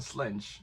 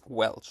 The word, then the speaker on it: Welch: reading really soon by Jenna Ellen Slench, which I also really hope I pronounced right. It's Welch, David. It's Welch.